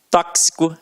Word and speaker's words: tóxico: Exemplos aqui, ó: gramática, tóxico, né, cara? Tóxico não, ó, tóxico, é isso mesmo, né?